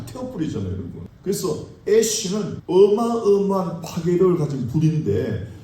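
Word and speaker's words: אש: 여기다가 하나님의 알레프를 붙이면은 애시, 다시 애쉬. 영어의 제죠, 제 애쉬. 같은 발음이에요.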